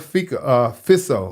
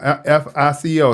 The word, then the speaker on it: Fico: But this one particular video is Robert Fico. This is his name, F-I-C-O. It sounds like it looks like FICO, like FICO score, F-I-C-O. But it's pronounced Fico.